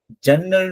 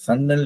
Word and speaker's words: சன்னல்: நம்ம பெரும்பாலும் வந்து வழக்கு சொல்ல ஜன்னல் நம்ம சொல்லுவோம். ஜன்னல், ஜன்னல். ஜா பயன்படுத்துவோம். ஜா என்பது தமிழ் எழுத்து அல்ல. அது வந்து கிரந்த எழுத்து அப்படின்னு சொல்லுவாங்க. சமஸ்கிருத எழுத்துன்னுவாங்க. ஸோ அதனால ஜா நம்ம சாவா ஆ மாற்றி நம்ம சொல்லுவோம். ஓகே. தமிழ்ல நம்ம சன்னல் என்று தான் நம்ம சொல்ல வேண்டும். சன்னல். ஓகே.